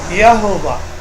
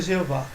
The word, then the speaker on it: Yehová: buscado entender e compreender, a sua pronúncia devida e adequada vai ser Yehová. Mas quanto à nossa língua, no meu caso, continuarei com a expressão já conhecida com o nome Jeová.